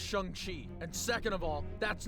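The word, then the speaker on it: Shang-Chi: I tried helping Shang Chi. First of all, it's pronounced Shani.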